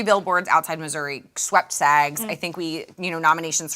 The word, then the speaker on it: Missouri: Do I mispronounce it? No, it's Missouri. Well, she kept calling it Missouri the whole telecast, and so now I feel like I don't know how to pronounce it.